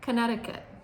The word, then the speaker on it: Connecticut: Connecticut. Looks like Connect-i-cut, but we pronounce it Connecticut.